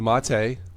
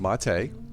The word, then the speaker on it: MATE: of Linux I'm using either a boon to Ma Tei mate but it's pronounced Ma Tei if you have any questions about that just